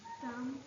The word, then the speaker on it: thumb: Thumb. Okay. Now, in thumb, which letter is a silent letter? B. Very good, because we don't read it, and if someone read it, we can't hear it.